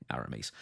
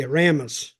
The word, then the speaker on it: Aramis: it's pronounced anyway anyway arames we don't say arames down south no we say Aramis Aramis okay aramas we'll